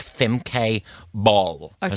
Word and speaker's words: Bol: It's like Femke Bol. Her Okay. surname is Bol. Like, I'm making spag bol for dinner. Love spag and bol. she's 24. Not She's all- not got everyone's. Oh, my spag bol is world famous.